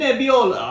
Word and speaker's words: Nebbiolo: You gotta say it right. 2022. Think Italian. Think Italian when you say it. How would an Italian person say it? Think Mario and Luigi. Sangiovese That's better. and Nebbiolo.